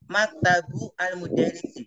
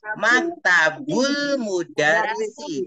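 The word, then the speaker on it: مكتب المدرس: ya bukan maktabun almudarisu kita jangan menjawab maktabu almudarisi salah begitu tapi maktabul mudarisi dilangsungkan maktabul mudaris maktab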